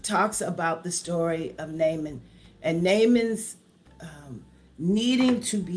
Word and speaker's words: Naaman: So it's Naaman.